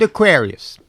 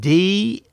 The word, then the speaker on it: daiquiris: I ordered everyone a round of Aquarius. What? Aquarius? Yeah, it's a sophisticated drink. Well, I'm not familiar with the Aquarius. How do you spell it? D-A-I-Q-U-I-R-I-S. That's daiquiris, Willie.